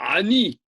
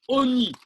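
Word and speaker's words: עֹנִי: Le Cholam n'est pas avec un Vav, mais avec ça se prononce, mais ça ne s'écrit pas. Pour faire l'allusion aux pauvres, c'est ce qu'on a dit tout de suite, mais ça se prononce Oni.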